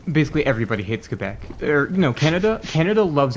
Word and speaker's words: Quebec: And that's like Quebec. Is it Quebec or It's Quebec. Quebec? That's just the proper pronunciation in French.